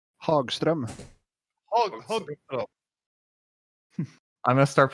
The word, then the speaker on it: Hagström: Fred, Yes, how do you pronounce the Hagstrom? Hagström.